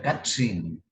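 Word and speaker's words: קצין: En el hebreo se pronuncia Katzin y generalmente es para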